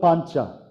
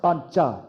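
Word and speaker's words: पञ्च: I wrote Pancha. People in North India would say, no, you don't pronounce Pancha, it's Panch. You don't pronounce the last part of the phoneme.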